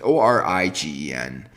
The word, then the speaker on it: Origen: I don't know how you pronounce the name. It's Origen.